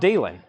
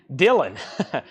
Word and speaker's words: Dylan: the free wheeling Bob Dyan why can't I say his last name correctly Dylan I'm rhyming it with wheelen Bob Dylan is a